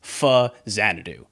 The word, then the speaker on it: Faxanadu: that is the name of the game itself faxanadu while there is no way some American kid in the 80s and 90s would ever know this the correct pronunciation is in fact f zanadu it being a portmanto of famicom in Xanadu